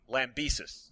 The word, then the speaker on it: Lambesis: Well, first of all, I'd like to say that, how do you pronounce his last name? Lambesis.